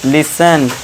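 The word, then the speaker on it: listen: अब देखिए टी टी के बाद इ एन आ गया तो यहां टी साइलेंट। इसे क्या पढ़ेंगे? लिसन। Watch लिसन। ठीक है दोस्तों?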